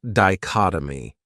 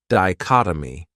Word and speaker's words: dichotomy: another great noun is dichotomy this word has four syllables and the stress is on that second syllable dichotomy that third syllable has that schah that uh sound D CH oh my